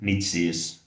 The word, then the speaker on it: niche: And when I look back my own journey through the different niches, niche is the right pronunciation, different niche and different